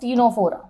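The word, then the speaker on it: Ctenophora: Next आता है third phylum that is called as टीनोफोरा. यहाँ पे भी सी हमारा साइलेंट है.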